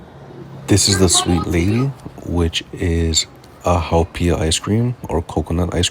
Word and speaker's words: haupia: but that's how you say it in Hawaiian, haupia.